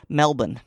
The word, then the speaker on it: Melbourne: Um, I have had several Australian friends who have told me the the correct pronunciation, and you did it correct the first time at least. Melbourne.